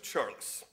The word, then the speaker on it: Charles: My name is Charles. Now, that is the Irish pronunciation of Charles.